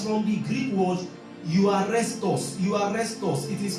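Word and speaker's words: εὐάρεστος: Euarestos. It is spelled E-U-A-R-U-E-S-T-O-S. E-U-A-R-U-E-S-T-O-S. It's pronounced euarestos, meaning euarestos. That is as if you want to say you arrest us.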